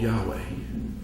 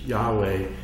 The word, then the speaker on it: Yahweh: So the first time they put it to words, they used Yahweh. And there is no syllables where your lips touch. It just reflects breath.